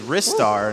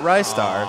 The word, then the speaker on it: Ristar: everyone on the couch gave Rystar the correct pronunciation, which is Ristar, not Rystar, so we were wrong.